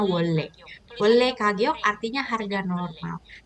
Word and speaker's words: 원래: Tulisannya wonre, dibacanya 원래.